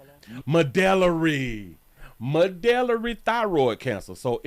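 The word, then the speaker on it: medullary: Medelery. Medelery. Medelery. Got it. Medelery thyroid cancer and mento. I know how to pronounce that.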